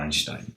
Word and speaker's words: Einstein: teoría de la relatividad de Einstein, o Einstein, si queréis pronunciarlo mejor.